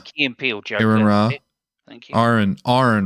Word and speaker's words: Ra: Aaron Ra. Thank you. Aaron Ron. Yeah. Aaron. It's almost like half. You almost say it like a pirate. And rah.